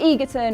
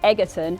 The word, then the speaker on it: Egerton: for kinsman's next sequel Taron Egerton or should we say Edgerton has set tongues flapping